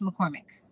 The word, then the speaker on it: McCormack: your name correctly so uh it's uh we'll pronounce it for me so i'm saying it correctly sheila sherpales mccormick thank you so we're going live on youtube